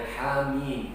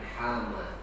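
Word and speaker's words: حم: Surah 40 itu dibacanya hamim, bukan hama. Haknya 2, mimnya itu 6.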